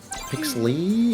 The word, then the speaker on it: Pixley: Well, Pixley. I'm assuming. Pixley. Yeah, that's how you say it.